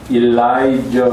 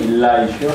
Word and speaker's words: Elisha: 엘리야는 지난주에 말씀드렸듯이 일라이저 이렇게 읽고 일라이셔 and 그 다음에는 사람 이름입니다.